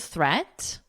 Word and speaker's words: threat: Watch out for meet and great and threat. So remember, we're focusing on vocabulary. I don't think there's anything we need to discuss for vocabulary. They rhyme with sweet and straight and debt.